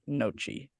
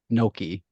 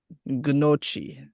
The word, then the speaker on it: gnocchi: your favorite way to prepare nochi? Gnocchi. Gnocchi.